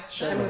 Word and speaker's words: Shenmue: We also got, and I can't even pronounce this, Shenmue? Shenmue. Shenmue. Yeah. That's Shenmue.